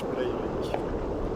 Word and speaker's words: Breivik: And his name was Anders Breivik. That's the correct pronunciation. I can't. It's Norwegian, alright?